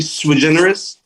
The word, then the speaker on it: Sui Generis: And it's hard for people to understand what it means, but it's actually Sui Generis. Got it. Sui Generis.